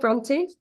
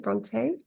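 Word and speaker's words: Brontë: She's called Bronty, like the Bronty sisters. So, I found that Americans pronounce it Bronte. So, you can call her like E like Bronte.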